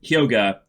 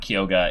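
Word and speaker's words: Hyoga: got his name wrong it's not kyoka it's it's yoga yeah I messed that up so let me change my notes there Yoga is his name he is one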